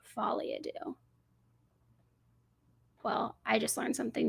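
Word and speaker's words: folie à deux: which could make sense Folia do that's how you say it follia do well I just learned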